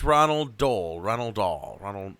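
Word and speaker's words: Roald Dahl: what is his name oh is iton it's Ronald Dole Ronald do Ronald r r doll yeah roll doll I I can never say his name I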